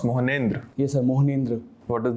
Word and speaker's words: Mohnendra: Good afternoon, Mohnendra. You can have a seat. Thank you, sir. So, how is it pronounced? Mohnendra.